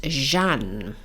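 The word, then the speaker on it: Jeanne: the actual correct pronouncement cuz I hate to pronounce it things wrongly oh I got that wrong it's Jean so Jean calmon um now what I did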